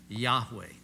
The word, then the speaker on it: Yahweh: Well, what we've done, uncomfortable with that, is we've added an A and an E, and we call him Yahweh.